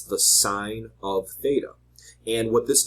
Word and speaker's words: sine: You'll see sine is often abbreviated S-I-N. It's still pronounced sine though.